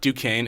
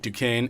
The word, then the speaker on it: Duquesne: twitter is at duquesne it spelled d Duquesne is spelled d u qu es n e ok u qu es